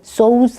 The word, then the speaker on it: sew: Helen sews a dress for her sister. sew, S-E-W인데 sew라고 발음합니다.